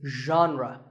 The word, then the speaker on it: genre: would you say it the correct pronunciation is genre pay attention to the first sound it's like shh but you have to put your voice into it genre genre next